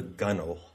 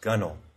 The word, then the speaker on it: gunwale: and that's called the gunnel g-u-n-w-a-l-e it's pronounced gunnel so it's actually a